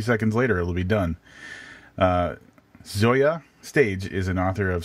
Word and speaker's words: Zoje: Did I say that right? I believe Zoje? You did, from the phonetical pronunciation on her Twitter bio.